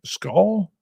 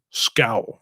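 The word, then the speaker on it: skål: How do you say that, though? Am I saying it right? Skull? I don't think so. Scowl. Scowl? Cool. Scowl.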